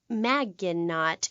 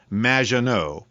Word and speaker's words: Maginot: have mispronounced my name it's which rhymes with badge uh as in duh and no as in more than you maginot anyway thank you for